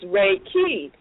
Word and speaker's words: Reiki: it Raa but when you look at the pronunciation of it is Reiki um you know in the TW language so